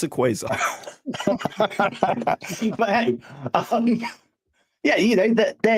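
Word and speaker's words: Quasar: I I keep getting told I uh I pronounced it wrong, but it's Khazar or something like that. Not quarant. Whoever said Khazar is wrong. He didn't do his homework. It's a quaazar.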